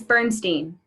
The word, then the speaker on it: Bernstein: Is it Bernstein or Bernstein? It's Bernstein. Bernstein.